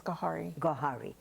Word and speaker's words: Gawhari: Gawhari. Am I pronouncing it right? Yes, Gawhari.